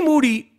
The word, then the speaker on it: Moody: it it's always Moody is the 2015 and 2016 podcast co-host of the year uh this is true they call Moody last name rhymes with Duty uh coming up from